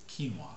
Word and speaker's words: quinoa: Now, this would be the first time I've ever had quinoa, right? That's how you pronounce it, quinoa?